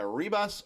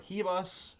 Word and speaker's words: Ribas: And I like Rose Namajunas over Amanda Ribas or Hibas, however you want to pronounce it.